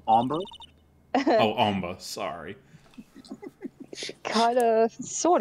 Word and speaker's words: hombre: a chad was that was that a hombre a friend of yours it's pronounced ombre oh omba sorry kinda